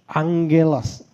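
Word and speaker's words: ἄγγελος: Nah, angelos ya. Angelos. Tulisannya agelos tapi kita baca angelos.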